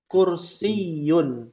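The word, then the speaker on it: كرسيّ: Ya, di akhir ada tasydid. Kursiyun.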